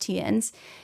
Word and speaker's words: Theuns: The other guy, Tiens, is spelled Theuns. And yes, I did look it up. It is pronounced Tiens.